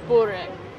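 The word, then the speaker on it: Burek: time for rec okay it's pronounced buri in serbia see this is exactly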